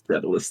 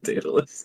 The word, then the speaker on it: Daedalus: artificer I appreciate that you pronounce the Assassin his name is dreadless instead of Daedalus it's wonderful bounce back